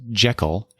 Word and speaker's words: Jekyll: We learned a lot of things, such as the story of Jekyll and Hyde. So apparently, it's not pronounced Jekyll as we in America do quite commonly. It is pronounced Jekyll and Hyde.